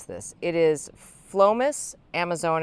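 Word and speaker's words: Amazone: It is Phlomis Amazon. It's spelled like Amazon with an E at the end.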